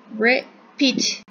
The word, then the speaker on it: repeat: Repeat. Repeat. Se acentúa en la segunda sílaba.